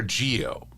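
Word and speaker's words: Zi-O: And then there was Kamen Rider Geo. It's spelled Z-I-O, but in Japan they seem to pronounce it as more of a G.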